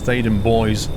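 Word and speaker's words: Theydon Bois: means Thaden Woods, but everybody, including the announcer on the Central Line, pronounces it as Thaden Boys. B-O-I-S is pronounced boys apparently. Why they can't just say Thaden Bois, I don't know.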